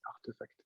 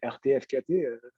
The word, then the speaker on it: RTFKT: En fait, non, c'est Artefact. Ah, artefact, ok, il y a un petit jeu de mots. Oh, putain, c'est intelligent, hein. Ok. Pendant très longtemps, je lui disais ça, ben, RTFKT.